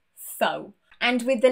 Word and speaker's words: faux: The first one is X, and this is not a particularly common letter in English, especially when it is silent. I can only think of one example, and this has been taken from the French language. This is faux.